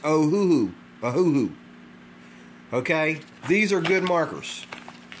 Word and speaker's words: Ohuhu: o h u H hold on a second oh who who some people say Oahu or ahahu it's oh who who okay these are good markers these are good